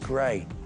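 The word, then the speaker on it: Grès: G-R-E-S, but it's pronounced Grey.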